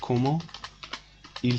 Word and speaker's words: comment il: Comment liaison. This is T and this is il. To make your pronunciation beautiful, you can say comment il s'appelle.